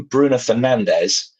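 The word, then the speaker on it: Bruno Fernandes: long that if he you you change from Bruno Fernandez to Bruno fernan you change Jose Mourinho to the correct Portuguese pronunciation um you change Freddy Lumberg to Freddy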